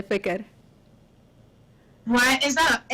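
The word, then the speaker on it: ፍቅር: Say fikr. Why is that a S? How you spell that?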